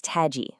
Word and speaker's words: TAGii: So what is TAGii, pronounced TAGI, at its core?